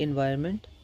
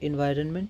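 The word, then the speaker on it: environment: अगला हमारे पास आता है एनवायरमेंट। तो एनवायरनमेंट तो देखिए एन एन न को हल्का भी बोल सकते हैं हम लोग और एन इसमें रहता है एनवायरनमेंट।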